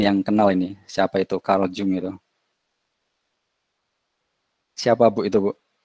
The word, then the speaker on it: Carl Jung: Nah ini kayaknya Bu Nurul ini yang kenal ini, siapa itu Carl Jung itu? Siapa Bu itu Bu? Halo, halo. Kalau kita bacanya Kalyung, Pak.